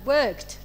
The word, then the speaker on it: worked: verb K she had worked and you pronounced the word work like worked because the ending here letter is K okay voiceless one number